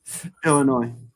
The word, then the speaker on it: Illinois: Illinois. The S is silent.